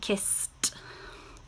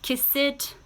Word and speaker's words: kissed: And we're going to add the t sound. So you have watched, washed, and kissed. Okay, I'll say it again. You have watched, washed, and kissed. Again, these are now still one syllable. Watched, washed, kissed. Okay, one syllable. We do not say watch it, wash it, kiss it. It's a t sound, a short t.